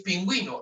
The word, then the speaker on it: pingüino: ayer hablamos de un no es pino es pingüino lado se pronuncia lado